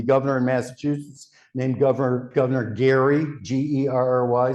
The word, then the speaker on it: Gerry: It came into being in the first part of the 19th century when the governor in Massachusetts named Governor Gary, G-E-R-R-Y, sometimes pronounced Jerry, was in power.